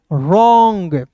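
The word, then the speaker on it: wrong: रॉन्ग। Clear? W आर आई तो W silent करेंगे।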